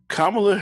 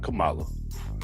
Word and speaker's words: Kamala: me out with this kamla Harris not Kamala sorry Kamala you know I say it two ways I say it correctly